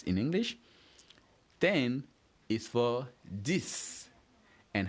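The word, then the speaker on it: dix: So 10 and 6 of course are almost similar. The only difference is with the S on 6 and the D on 10. And of course the pronunciation are pretty much the same. So we have 6 and 10.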